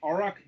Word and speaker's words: Auroch: Joining us this week is Thomas Rowlings of Auroch Digital. That's right, yeah. Okay, good. Exactly sure how to pronounce Auroch there, but good to know that we got it right.